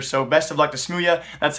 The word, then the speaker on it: smooya: their certified roster so best of luck to smooya that's how you pronounce his name I was told that this